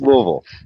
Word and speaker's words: Louisville: you're not from Kentucky Louisville it's pronounced Louisville Louisville I lived there for four years it's pronounced Louisville yeah so he can